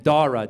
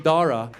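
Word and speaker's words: Dhara: to indianize it so she added a silent h after the D so now it's spelled d-h-a-r-a looks Indian is Iranian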